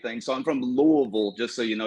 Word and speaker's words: Louisville: So I'm from Louisville, just so you know. You got to swallow your tongue when you say it, Louisville.